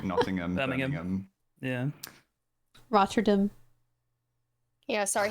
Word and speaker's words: Nottingham: It's uh anywhere with ham as well as just not ham. So like Nottingham.